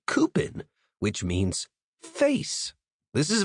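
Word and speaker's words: coupon: And my favorite is c o u p o n, pronounced like coupin, which means face.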